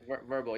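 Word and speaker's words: Vrbo: How does Direct Book Me differ from those platforms like Airbnb and I think it's pronounced Verbo? Correct. Verbo, yeah, Verbo is another big player.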